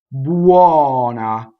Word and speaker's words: buona: Buona. Open O. Buona. One N. Remember the thing about we love to double, right? So you'll hear buona a lot. Buona.